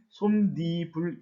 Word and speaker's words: 솜이불: 솜이라고 하는 명사와 이불이라고 하는 명사가 합쳐져서 솜이불이라고 하는 단어가 만들어집니다. 그런데 분명히 이 중간에 없었던 니은 소리가 덧붙여서 결국에는 솜니불 이렇게 발음이 됩니다.